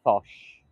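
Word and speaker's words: Foch: from 1851 to 1929 f-o-c-h - Marshall I'm gonna say fosh so I don't upset anyone yes I don't wanna Sarah I don't want to offend anyone I would pronounce it Bosch get a different view that's the correct way thank you Gabby you're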